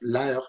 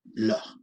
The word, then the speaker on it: l'heure: La razón por la que se escribe L apóstrofo, bueno, ya lo sabéis, es porque cuando una palabra empieza por vocal o H muda, las H prácticamente son siempre mudas en francés, la vocal del artículo desaparece. Y por eso no decimos la heure, sino l'heure, ¿ok?